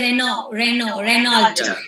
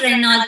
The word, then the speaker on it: Renault: Even the when we say Renault, it's not Renault, it's Renault. Correct.